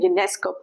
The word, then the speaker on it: Ionesco: That's the pronunciation, Ionesco.